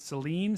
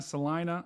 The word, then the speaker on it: Salina: I pronounced I've I've I think on this stream I've pronounced I've pronounced it Seline Selena Salina I am so sorry